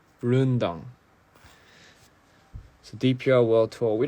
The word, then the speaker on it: Rendang: Rendang is pronounced Rundang. Rundang.